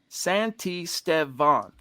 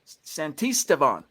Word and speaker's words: Santisteban: You're telling me phonetically it's Santisteban. Emphasis on Steve. Now, are you saying emphasis on Steve or Stev? Santisteban. So that one. Santisteban.